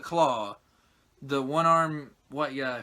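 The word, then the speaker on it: Klaue: right ulysses cloud and that is how it's properly pronounced khloe but they have they call it claw the one arm white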